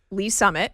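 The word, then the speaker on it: Lee's Summit: When you see the words Le Summit, how do you pronounce that on the air? Lee Summit.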